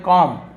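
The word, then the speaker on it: comb: हम क्या बोलते हैं कॉम्ब तो इसे कॉम्ब बोले बोले कॉम्ब नहीं बोलेंगे कॉम कॉम Baum thumb क्लाइम बी को नहीं पढ़ा जाता है साइलेंट होता है बट हम शुरुआत से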